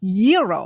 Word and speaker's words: gyro: I order the Gyro Supreme. Suddenly, the lady behind me chimes in. It's pronounced gyro. Then the fella behind her says, It's a gyro.